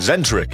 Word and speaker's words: Zentric: Oh, and Zentric is how it's pronounced.